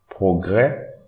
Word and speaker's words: progrès: Don't pronounce this S, progrès. Don't pronounce this S also, français.